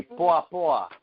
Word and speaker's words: poa: And and if he says Niaje to you, you say poa poa.